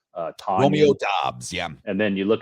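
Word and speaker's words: Doubs: Dobbs? Romeo Dobbs, yeah.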